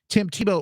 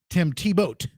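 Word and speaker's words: Thibault: folks who outed him tim tebow what is it was his name not tim tebow not the football player tim t boat is how they are they're pronouncing it reportedly forced out after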